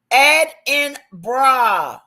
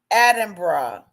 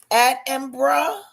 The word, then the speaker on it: Edinburgh: Edinburgh is most commonly pronounced Edinburgh. Typically with three syllables rather than four. Locals may also use the shorter two-syllable version. Edinburgh.